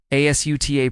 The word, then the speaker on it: Asutah: Asutah pronounced ah-soo-tah-o is open and releasing. Soo hums at the throat. Th lands quietly.